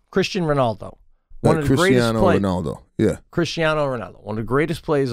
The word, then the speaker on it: Cristiano Ronaldo: you say his name Christian Ronaldo Ronaldo yeah Cristiano Ronaldo one of the greatest plays of all time